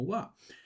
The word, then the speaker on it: は: esto es un ja, porque tú lo pronuncias como wa, porque aquí este kana no está cumpliendo la función como un kana normal, sino acá está cumpliendo una función de partícula que nos va a dar una información muy importante.